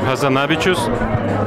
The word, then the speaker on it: Hazanavičius: I say, in France we say Hazanavičius, and but in each country I've been, they always ask me how do you pronounce it, and I always say you do it the way you want, because I do it the French way, and it's not a French name. So actually you're the ones who know how to pronounce it, and I should ask you how to pronounce my name for once.